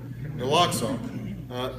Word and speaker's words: naloxone: naloxone i want to make sure i was pronouncing that right so i talked to the expert naloxone this is something that if first responders have